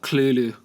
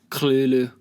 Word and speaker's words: Cthulhu: the second the second make sure the second the second syllable is made with a guttural noise obviously Wow ok very